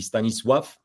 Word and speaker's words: Stanisław: The Yeah, last he's- three letters spell law in English, so it's clearly why we would pronounce it that. But in Polish, it would be Stanisław, and the L is actually not in Polish. It would be an L with like a little apostrophe through it, and it would be w.